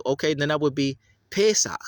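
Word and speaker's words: פסח: Pesach. So you're not supposed to pronounce that as a pasah. That dot underneath a H for the Hebrew transliteration is always a guttural sound. So it should be Pesach.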